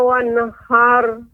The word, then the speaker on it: wanhar: Kemudian nun wanhar tidak boleh memantul wanhar, wana. Akan tapi harus jelas wanhar.